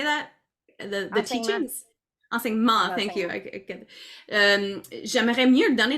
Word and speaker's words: enseignements: ma pratique aussi, je veux comme donner les enseignances, how do you say that? The teachings? Enseignements, thank you.